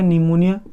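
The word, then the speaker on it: pneumonia: ध्यान दीजिएगा, इंग्लिश लिखा जाएगा तो P साइलेंट होता है इसमें, निमोनिया।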